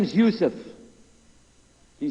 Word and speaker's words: Yusuf: my name is Yousef did you say Yousef you said Yousef you're very good I wish you teach my wife she keeps mispronouncing it she calls me useless alhamdulillah now how many of you were in